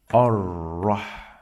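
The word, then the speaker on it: الرحمن: Ar-Rahmani. Ar-Rahmani. Ar-Rahmani. Ar-Rahmani. Ar-Rahmani. Ar-Rahmani. Bismillahir-Rahmanir-Rahim. This ra over here in the word Ar-Rahman, it should be heavy.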